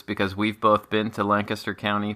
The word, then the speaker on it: Lancaster: to discuss this because we've both been to Lancaster County p and we know that it is pronounced Lancaster and not not Lancaster thank you thank you